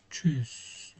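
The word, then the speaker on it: Tschüss: Onun dışında alt kısma gelirsek çözü diye okunuyor.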